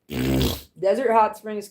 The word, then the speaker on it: Desert Hot Springs: The original, like the people who know the OG of Desert Hot Springs know that you're not supposed to pronounce the T in the hot springs.